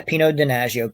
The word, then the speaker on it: Pino Donaggio: the music is, and I always pronounce this name wrong, Pino Donaggio. Pino Donaggio. Wow, did I get that wrong? Pino Donaggio, yeah, Pino Donaggio.